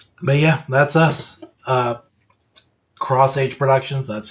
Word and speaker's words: xH Productions: Uh, Cross Age Productions, that's how it's pronounced.